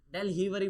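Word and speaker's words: Delhivery: लो ना मेरी बात एक होता है डेल हिवरी डेल डेल हिवरी हिवरी ये स्पेलिंग होती है डेल हिवरी बोलते हैं भाई इसे ठीक है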